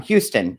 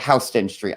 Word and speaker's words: Houston Street: would pronounce it um houston it's spelled like houston like in texas but it's called houston street i mean it is